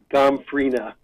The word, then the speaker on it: Gomphrena: pink flower on it that's gum gum trina gomphrena okay how do you spell that GOM ph r e na okay because